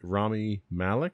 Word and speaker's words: Rami Malek: probably gonna pronounce this name wrong can you pronounce it for me it's ROM rami malek is yes rami malek Bohemian Rhapsody which we